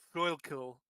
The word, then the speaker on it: Schuylkill: It's pronounced Schuylkill.